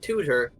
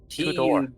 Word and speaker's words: Tudor: Not tutor. Tudor. Tudor. Tudor. Yes.